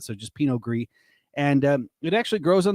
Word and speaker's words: Pinot Gris: But when it's domestic, it's just GRIS, and then the S is silent, so just Pinot Gris.